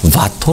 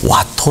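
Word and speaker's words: Watteau: 는 프랑스 말을 쓰는데 프랑스 말로는 이걸 사실은 바토 라고 읽어야 돼 봐 토 그 그런데 이 우리나라에서는 영국을 통해서 들어왔기 때문에 와토 라고 그냥 영국식 발음으로 알려져 있습니다 어떻게 이 사람은 바트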